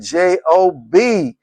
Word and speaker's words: Job: And we pronounce it a job, but we're talking about the person called Job.